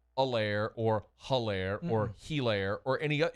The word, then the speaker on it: Helaire: It's like Eclair, but just take out the cuh. It's Helaire.